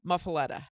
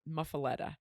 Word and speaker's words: muffuletta: as is the loaf of bread itself is muffaletta there's a couple different ways to pronounce it but basically that's it muffaletta and it is a sicilian style bread probably